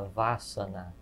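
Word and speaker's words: Vâsana: Tem uma expressão em sânscrito, uma voz em sânscrito, chama Vasana, V A circunflexo S-A-N-A. Esse A, a gente pronuncia um A aberto como casa, mas seria um A fechado, quase como câmara, uma mistura entre câmara e casa.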